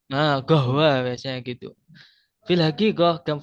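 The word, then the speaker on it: قهوة: Nah, atau biasanya Habib itu kof itu bacanya go. Gahwa. Nah, gohwa biasanya gitu.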